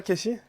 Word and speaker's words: Kessy: J'en ai même marre qu'on m'appelle Casey, donc je l'ai Ouais. écrit K-E-2-S-Y, mais ça se prononce toujours Casey.